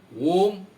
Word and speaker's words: Om: Can we interpret it as the Hindu Vedantic word Om, containing three syllables, A-U-M, out of which the universe with its elements were born?